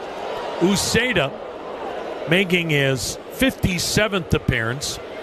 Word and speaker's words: Uceta: Uceda making his 57th appearance 9 wins, a save, 3.90 ERA, 83 strikeouts in 60 innings. The pitch, fastball strike, 0-2. Uceda. You spell that last name Uceta.